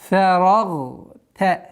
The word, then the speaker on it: فَرَغْتَ: Но обратите внимание, фа мягкий звук. Фарагта. Нет. Фара. Нет. Фарагта. Мягкий. Фарагта. Фансаб.